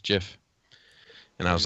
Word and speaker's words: GIF: gifs tiffypop you know it actually is pronounced jiff oh boy here we